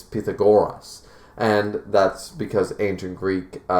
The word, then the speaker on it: Pythagoras: What about I'm going to say Pythagoras, but apparently it's Pythagoras. And that's because ancient Greek spelling and pronunciation.